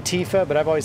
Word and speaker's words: Tifa: they're saying it wrong how are you saying it tiffa i get oh tifa versus tiffa okay as in short for tiffany yeah 20 is plenty